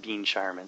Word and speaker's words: Ben Charman: His name is actually pronounced Bean Charman, so apologies, Bean, for doing that.